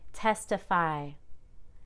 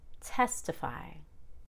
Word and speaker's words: testify: so i wouldn't say testify now i have too much energy on the last syllable it should be testify primarily you can say